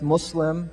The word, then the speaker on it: Muslim: So Muslims pronounce it with an S, not a Z.